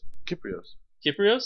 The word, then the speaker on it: Kyprios: Kyprios? Yeah, it's Kyprios. It rhymes with Skyprios.